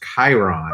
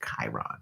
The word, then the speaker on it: Chiron: Pronounced Chiron. Huh. Thank you. That makes sense. Yeah. Well, we're learning here. Thank you for Thanks. that. I'm frankly amazed I remembered the word at all. Hard C, Chiron.